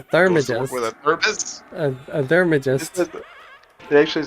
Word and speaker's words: theurgist: I don't know what a thermagist is.